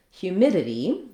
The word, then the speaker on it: humidity: In the word humidity, we have second syllable stress.